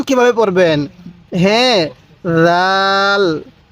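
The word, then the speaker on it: راء: ভাবে শিখবো এরপরে এই হরফটির নাম হলো দেখুন রটা কিভাবে লেখা হয়েছে যদি আপনি এই নকশা গুলো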